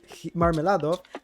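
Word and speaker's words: Мармеладов: is really difficult but marmilado tells him that about his wife catherine and their daughter sonia oh well the pronunciation is like marmalade and well then marmela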